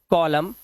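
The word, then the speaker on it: column: जैसे यहां पर एम के बाद एन आया तो इसे पढ़ते हैं डैम N silent हाईम एनसाइलेंट कॉलम N silent और ऑटम साइलेंट क्या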